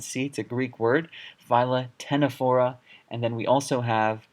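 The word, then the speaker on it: Ctenophora: p h o or a this is not pronounced Satana fora or katana for it's actually excellent seats a Greek word viola tena fora and then we also have plus phyla same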